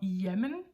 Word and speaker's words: ja: note here that their their pronunciation of yen is very short it can be very short we might say y or even shorter y JM Danish J